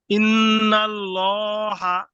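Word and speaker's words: إِنَّ اللَّهَ: না ল হবে এখানে ল হবে যেহেতু মুসাদ্দিদদের পূর্বে জবর আছে অতএব এখানে ল উচ্চারণ করতে হবে হ্যা আল্লাহু শব্দে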